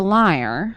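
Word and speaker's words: lyre: this magical instrument uh it's a liar mhm like you you lie mhm but it's spelled with a Y why I think yeah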